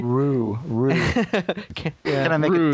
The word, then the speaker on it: Ryu: I say Rue.